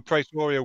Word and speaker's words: Praetoria: Yeah, so Praetoria would be the pronunciation. Yeah, it's from, you know, the Roman word praetor.